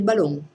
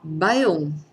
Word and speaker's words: bałon: veneta o L evanescente, la L taglià, che si dopera in quelle parole in dove la L non la si pronuncia compagna in tutto il Veneto. Un veronese sta somiglia la chiamerà el ballon, perché i veronesi dopera tantissimo la L.